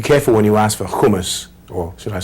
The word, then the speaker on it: hummus: you pronounce that word hummus it's not actually pronounced hummus it's hummus there's a subtle difference there I once went